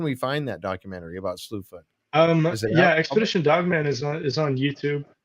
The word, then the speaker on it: Slewfoot: They call it Slewfoot.